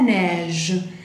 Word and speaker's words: neige: Después tenemos la neige. Neige, la nieve. La neige. J'adore la neige. Yo adoro la neige. La neige. Ahí tenemos el sonido E. Entonces, acuérdense, es E abierta. Entonces, ne, ne. Neige.